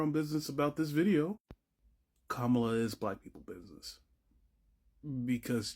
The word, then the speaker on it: Kamala: progressives is absolutely insane it's a six-letter name pronounce it correctly kamla Harris like you guys sit here and wonder